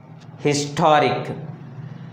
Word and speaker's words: historic: Historic, historic. The word has three syllables. Historic. Then the stress falls on the second syllable from the end.